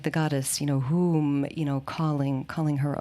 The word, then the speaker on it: HUM: a lightning fire and it's pronounced whom it can also be pronounced with a long vowel so that would be more like whom like room and that is a